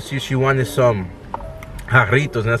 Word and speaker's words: Jarritos: He didn't know how to pronounce it. He said something completely He said jarroa. No, wait, yeah. What did you say? Jarita, yeah. Like, jarroa is a type of food.